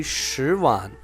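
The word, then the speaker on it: 十万: So how we gonna pronounce 100,000? It will be shíwàn.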